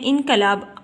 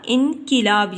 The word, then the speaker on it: انقلاب: زبر نہیں آئے گی۔ اس کے بعد ہے انقلاب، ہم بولتے ہیں انقلاب، عام روزمرہ زندگی میں جو لفظ بولتے ہیں وہ بولتے ہیں انقلاب، اکثر غلط بول جاتے ہیں، تو صحیح تلفظ ہوتا ہے اس کا انقلاب، یعنی کاف کے نیچے ہم نے زیر کی علامت لگائی۔ پھر ہے تلاوت، یہ